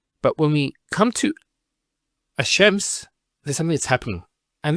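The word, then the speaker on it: الشَّمْس: And because they're very close, what happens is this lam is not pronounced. And what happens instead is the lam is pronounced as a sheen. So there's actually a shaddah here. So it's ash-shams, not al-shams.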